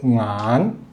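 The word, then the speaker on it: 眼: 종성 이응이 파에가 있죠 응안 응안 그냥 안이라고 해도 되긴 하데 안이라고 읽으면 돼요 안시 그러면 눈곱이 되는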